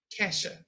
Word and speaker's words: Keisha: We know sometimes these names be pronounced Kaisha. Other ways. How do you pronounce your name? Kesha.